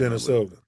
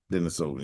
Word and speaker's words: Denisovan: Asian people are more Denisovan, whatever I can't say it right. Denisovan. Denisovan, yeah.